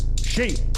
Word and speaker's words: Xi: So my name's She, it's spelled X-I, like Xi Jinping. Okay. And it's also she like a woman.